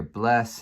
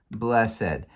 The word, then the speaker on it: blessed: are two syllables here blessed uh I will say it is a good idea to adopt the older pronunciation of any Ed word here we in Modern